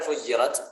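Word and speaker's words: فُجِّرَتْ: Nah, pada kata fujirat ada dua cara baca, ada dua qiraat. Apabila qiraat kita yang kita baca yaitu Imam Hafiz an Asim membacanya dengan tasydid. Fujirat. Tasydid pada huruf jim.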